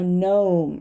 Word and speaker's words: gnome: g either and it's going to be a gnome right known a line a line light we're